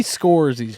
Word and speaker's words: Scorsese: Now, Marty Scorsese's joint.